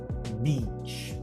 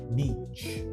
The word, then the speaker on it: beach: O segredo é falar sorrindo. Beach. Esparrama bem o sorriso. Se você falar sorriso, vai dar certo, tá? Beach.